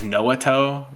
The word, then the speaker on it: Noato: Dude, it was Dasuke, and then my brother Noah was Noato, like Naruto.